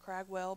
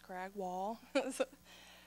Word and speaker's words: Cragwall: A lot of people mispronounce her name and call her Cragwell, but it's Cragwall.